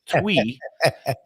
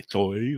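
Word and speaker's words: Thuy: So Twee, and it's spelled Thui, which some would say Toy or Toy, but it's Twee. She says, as in 1, 2, Twee.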